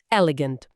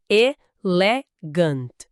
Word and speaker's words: elegant: Ah, o inglês tem uma palavra bem parecida, quase irmã, elegant. Mas, ó, cuidado com as pequenas diferenças na pronúncia. Ouve devagar. Elegant. A sílaba tônica, a força tá no começo, não é.